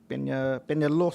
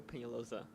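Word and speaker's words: Peñalosa: we'll call up pena penelo hopefully i got that right if not go ahead and pronounce it for me uh yes it's penalosa penalosa penalosa all right thank you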